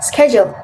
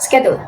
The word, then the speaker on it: schedule: And the correct pronunciation is schedule instead of schedule.